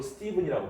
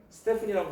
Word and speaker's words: Stephen: 자, 이때 36세 수학자인 스티븐 스메일은 이거 생긴 건 스테픈이지만 주로 스티븐이라고 발음합니다. 스테픈이라고 발음하는 사람도 있어요.